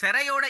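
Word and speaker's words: සැරයි: உரைப்புக்கு நாங்க என்ன சொல்றது சரை என்று சொல்றது சரை என்றால் உரைப்பு அந்த சரையோட இயே சராய் என்று உச்சரிக்கப்படும் இந்த குழம்பு உரைப்பா இருக்குது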